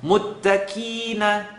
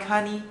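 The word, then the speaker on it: مُتَّقِين: Listen to it incorrectly with a kaf. Muttaqina, kina, kima, Quran kani is wrong. Muttaqina, muttaqina. It's still living behind the uvula. It's still holding its integrity as a heavy letter, and it's just being pronounced not so heavy.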